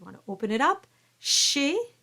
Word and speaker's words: chez: Chez, don't pronounce that final consonant.